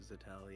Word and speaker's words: Zixeltel: I'll answer to either, but Zixeltel, yeah.